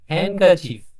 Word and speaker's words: handkerchief: D letter silent से ही करिवा तो एटा उच्चारण होई दे हैंडकरचीफ हला हैंडकरचीफ जो लगे में ता जा अर्थ